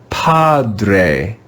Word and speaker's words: padre: read this word together padre padre padre do you hear the sound of the classical a at the end of the word padre padre this is the first